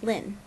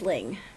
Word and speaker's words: Ling: it really depends um I know I have some Viet friends um that are from the middle and they pronounce my name Lynn like that's how they say it um my parents are originally from the north and so they pronounce things differently than the other regions so my name is Ling you can call me